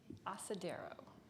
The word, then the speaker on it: asadero: define it a semi-soft white cheese from Mexico asadero are there any alternate pronunciations there's just the one asadero a-c-a-d-e-r-o asadero